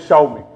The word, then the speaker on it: Xiaomi: very scared like if she tells the wrong pronunciation of that word it is xiaomi and thank you very much for that okay